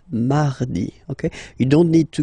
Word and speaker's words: mardi: So you can hear that you don't pronounce it that strongly, this R. Mardi, mardi, okay?